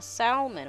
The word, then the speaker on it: salmon: like it's Salmon well there's an L if the L is silent it shouldn't be there and I'll forget how